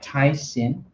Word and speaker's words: Tyxin: This here, it is by a company called, just show you the front of the box, called Tysin. And so it's spelled Tyxin.